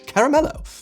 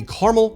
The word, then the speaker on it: caramel: Not all Americans ignore that middle a like myself. I mean, look at this map. This is a map of the caramel caramel split.